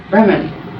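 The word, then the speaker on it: Brehmn: that's hard to pronounce, Bremen. They call it the Bremen, but there's no E between the M and the N.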